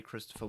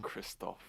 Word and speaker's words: Christoph: of the scene especially christopher waltz he does incredible at like christoph like oh sorry it's okay i think he i don't think he would like you uh saying his name wrong kristoff uh you don't think